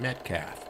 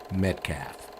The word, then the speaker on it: Midkiff: Now, I know how that name is spelled, but I'm telling you, we all pronounced it Metcalf. And these were the first inverts we had ever seen. So, it's spelled Midkiff, and I'm going to keep pronouncing it Metcalf.